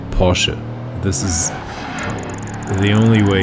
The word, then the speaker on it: Porsche: this ultimaker is called porsche this is the only way to say it like like if you want to say it's like a true german i would say porsche very some say porsche